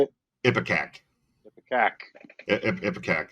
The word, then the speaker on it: Ipecac: kudos to Mike Patton and Ipica. How do you say it? Ipecac.